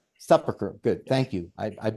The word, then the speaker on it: Sepulchre: The various churches, the Church of the Nativity, the Church of the Sepulchre, think how that's pronounced. Sepulchre, good, yes.